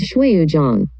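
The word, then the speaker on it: 水滸傳: About the title, the pronunciation in Chinese is Shuiyuzhang, and in Japanese, the pronunciation is Suikoden.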